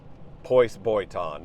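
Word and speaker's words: πῶς βιωτέον: Pois boiton, that's how you say it in ancient Greek. How should we live? How do we live our life? Pois boiton.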